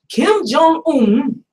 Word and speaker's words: Kim Jong-un: It is a comedy, and apparently, Kim Jong-un, did I say it right?